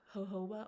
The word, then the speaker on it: jojoba: um and it is basically just 100 pure jojoba oil that is how you pronounce that you can see that and what